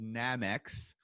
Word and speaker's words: Nammex: you are the president of a company called namex did i pronounce that correctly yes okay so namex is